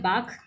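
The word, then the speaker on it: balk: बाख एक वर्ड होता है बी ए एल के बाख। इसमें एल साइलेंट होता है।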